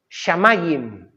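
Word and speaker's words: שמים: De hecho, en hebreo, ¿sabéis cómo se dice la palabra cielo? Shamayim. Sha mayim. Mayim es agua. Sha allí. Allí hay agua. Pero samayim, ¿en qué termina? En im. Es decir, es un plural.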